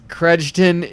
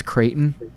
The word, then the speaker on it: Creighton: Credgeton is the fun way that I mispronounce Creighton.